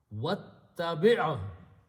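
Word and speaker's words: وَاتَّبِعْ: Actually, by the way, word is ittabi, but waw is there, so you do not pronounce this alif in between. And alif becomes hamzatul wasl, so you just put a little swad. You pronounce waw with the ta.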